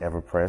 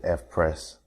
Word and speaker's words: Eveprest: install the Fess theme I've been calling it everpress so please excuse me for not saying it correctly but it's the F press so what I'm going